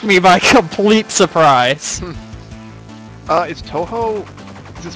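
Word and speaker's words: Touhou: Do you play Toho?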